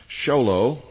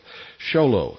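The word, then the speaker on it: Show Low: And send them to the Intelligence Service, Post Office Box 1420, Xolo. That's spelled S H O W L O W Arizona 85901. That's P. Box 1420, Xolo, Arizona 85901.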